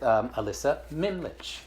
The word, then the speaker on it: Ellisa Mimlitsch: And I'm here with Ellisa Mimlitsch, right?